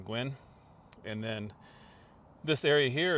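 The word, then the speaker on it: Guin: Alabama w the town of goowin pronounced Gwyn is uh another funny story of how it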